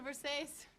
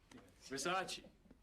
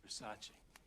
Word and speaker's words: Versace: It's a Versace. It's Versace. What? Versace. It's pronounced Versace.